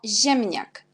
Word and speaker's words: ziemniak: Puis, on a le mot ziemniak. On a ZI, on prononce quand Z avec l'accent, c'est J. Alors, on a ziemniak.